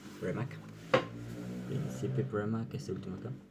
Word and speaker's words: Premack: Casi esto parece como si estuvieran diciendo Mac al final, pero no. Premack.